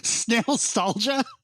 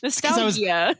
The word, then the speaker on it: nostalgia: What did you pronounce it as earlier, Space? It's snail-stalgia. Snail-stalgia? Nostalgia.